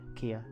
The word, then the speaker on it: KeA: actually end up attending like kia yeah ikea that's how i've been pronouncing it kia so i pronounced it right this is the first